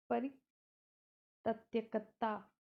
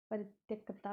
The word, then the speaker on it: परित्यक्ता: Sorry, pronunciation इसको लिखते कैसे हैं, ऐसे लिखते हैं परि, फिर लिखते हैं त्यक्ता। हिंदी बहुत क्लिष्ट है। परित्यक्ता कहते हैं इसको बढ़ा के मात्रा के साथ।